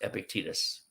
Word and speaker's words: Epictetus: And just so you know, Epictetus is spelled Epictetus, and it's pronounced Epictetus.